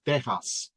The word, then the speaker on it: Texas: And I mean, come on, the name Texas, it's supposed to be pronounced Tejas, right?